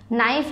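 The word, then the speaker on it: knife: नाइफ है, कि नाइफ नहीं पढ़ेंगे इसको, के साइलेंट है, नाइफ के एन आई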